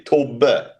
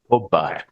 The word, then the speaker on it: Thobbe: Well, in Swedish that would be Thobbe. Thobbe.